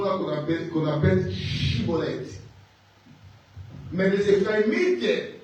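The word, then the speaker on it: shibboleth: L'environnement dans leur environnement il savaient pas prononcer les mots chibolet, il prononçait sibolette. Alors pour qu' qu'on les laisse vivre, il faut qu'il faut qu'il prononce chibolette mais il disait cibolette.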